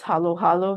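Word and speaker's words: halo-halo: um but yes, the correct pronunciation is halo halo, not halo halo.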